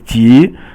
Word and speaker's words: 级: And the next one after that is 级, and that is second tone, and it means level or rank.